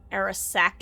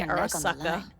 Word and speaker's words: Arasaka: Arasaka Even if D's she knows nuts. the studio's location, she's not gonna spill. I said it wrong. I need to say Arasaka.